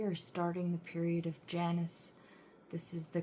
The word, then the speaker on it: Janus: And um we are starting the period of Janus. This is the correct way to pronounce it, at least in the English language.